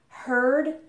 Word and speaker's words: heard: sound actually changes so instead of ear now we have her so in the past we pronounce them heard and overheard ok so